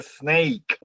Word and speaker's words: snake: How about the snake? It is green snake. Green snake. Observen que aquí otra vez tenemos la E silenciosa. ¿Y cómo suena hasta A? Snake.